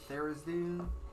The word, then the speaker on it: Tharizdun: Yes, but it's Therizdun is one way, or Theridan. There's different pronunciations.